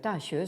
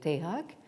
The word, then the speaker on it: Daxue: particulier donc en Corée, où donc Daxue se prononce Taehak, et au Japon, donc en japonais, donc Daxue donne Daigaku.